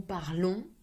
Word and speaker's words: parlons: Nous parlons, nasal sound.